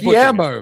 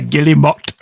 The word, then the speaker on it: Guillemot: How's that Guillermo, man? There's no R. I say Guillemot.